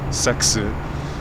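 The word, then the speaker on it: セックス: lone word from English is pronounced almost the same it's sexu sexu uh so yeah she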